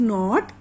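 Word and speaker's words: knot: In this नॉट के is silent. Okay, untied means गांठ को खोल देना, फ्री कर देना, किसी चीज को खोल देना.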